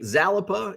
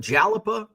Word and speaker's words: Jalapa: You're Jalapa, because I kept mispronouncing it. I was calling it Zalapa, and then I called it Jalapa.